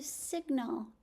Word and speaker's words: signal: The G in sign is because sign is related to signal. We hear the G in signal.